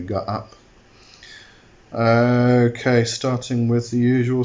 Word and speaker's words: Gaap: or go up um the first a has two little dots at the top so it's a r up as far as I'm concerned um that's how I pronounce it anyway go up okay starting with the